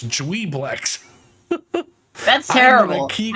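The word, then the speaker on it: Juiblex: I've been pronouncing it Jubilex this whole time. I mean, we've all been pronouncing it wrong. We've been pronouncing Tharzadune wrong for That was also years. because of my dyslexia, and I wrote it down that way. And I also wrote it down Jubilex. It's Dweeblex.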